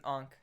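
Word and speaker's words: ankh: Ank. It's an enk.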